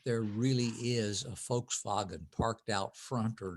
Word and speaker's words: Volkswagen: If I'm perfectly willing to talk about whether or not there really is a Volkswagen parked out front or not.